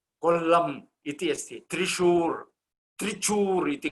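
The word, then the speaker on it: കൊല്ലം: उच्चारणं तेषां भाषायां कर्तुं न शक्नुवन्ति स्म। कोल्लं तु ते किं क्विलोन् कोल्लम् इति अस्ति, त्रिशूर् त्रिचूर् इति कृतवन्तः।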